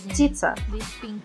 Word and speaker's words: птица: By the way, the word bird in Russian is птица.